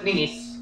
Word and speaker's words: Nice: you're correct cities 200 this French resort cities pronounced like your brother's daughter what is nice 300 the CN tower